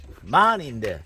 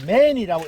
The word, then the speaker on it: MAN: 만인데 예, 예. 이걸 또 맨이라고 읽는 사람이 있어. 그것도 곧 바로 잡아야 되고 이게 독일제 예, 예.